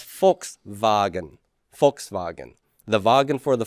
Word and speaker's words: Volkswagen: volkswagen in english volkswagen in german you would pronounce that as volkswagen volkswagen the wagon for